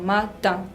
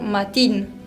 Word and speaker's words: matin: Mañana, matin. No quiero escuchar matin porque no se pronuncia de esa manera, se pronuncia matin.